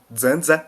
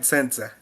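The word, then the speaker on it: Samsa: Depois de acordar de sonos intranquilos, Gregor Zandza. É Zanza, sabia? Pronuncia Zanza. Gregor Zandza.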